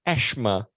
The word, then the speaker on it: asthma: okay first of all in Cape Town it's pronounced ashma of course um I I'm not sure you're aware of that Prof uh ashma um Asthma as far as I